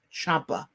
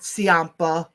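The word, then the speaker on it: Ciampa: and he actually announ he pronounced how his last name should be announced what it's Champa that's why I've always been calling him not sampa I know you were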